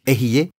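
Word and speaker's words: אהיה: Dites Ehyeh, je suis. Le mot s'écrit comme ceci.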